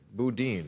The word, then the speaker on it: Boudin: Boudin, right? Is that how you pronounce that name? Yes. Chesa Boudin.